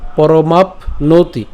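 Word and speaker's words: পরমাপ্নোতি: চরণ হিয়াচরণ ঠিক আছে হিয়া আচরণ এরপর কর্ম পরমাপ নতি এখানে খেয়াল করুন আমরা এখানে প্যন্ত উচ্চারণ করলাম অর্থাৎ পরমাপ এই ম আকার প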